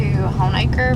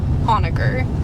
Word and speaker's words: Honaker: okay and i guess it just sounded like moniker homicker you know so it's han is gg hornaker what was that again it was hans jacob honaker john jacob no hans